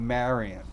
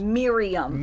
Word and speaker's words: Miriam: after 5 000 times Miriam Miriam Miriam Miriam I want you to be made married rhymes with delirium and they're delirium Miriam delirium yes my sister my